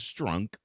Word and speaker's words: Strunk: But the current owner of the team, Amy Adams Strunk, and yes, I'm not mispronouncing her last name, it is Strunk, she did not want to unveil the whole uniform until the helmet could be utilized.